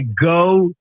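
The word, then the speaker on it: Geaux: So my LSU Tigers who won the baseball national championship and recently they say go Tigers and it's spelled G E AU X with the French pronunciation the Canadian French there.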